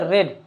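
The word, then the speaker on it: read: और पढ़ना को इंग्लिश में क्या बोलते हैं, रीड। और रीड का थर्ड फॉर्म क्या होता है, रेड होता है। स्पेलिंग वही रहता है, लेकिन सेकेंड और थर्ड फॉर्म में क्या बोलते हैं, रेड पढ़ते हैं, ठीक।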